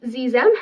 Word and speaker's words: xem: And then the other one is Zem. It's spelled Xexem. And it's spelled with an X, but it's pronounced with like a Z sound.